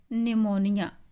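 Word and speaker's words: pneumonia: वह इलाज कर सकती है आप जॉन शेद निमोनिया यहां पे साइलेंट जोन की बीमारी है वह निमोनिया निमोनिया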